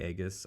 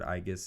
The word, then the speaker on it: aegis: forward so number five i've heard this pronounced in different ways i call it the aegis i've heard igis as well um health 24 spirit